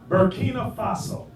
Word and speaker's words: Burkina Faso: Burkina Faso.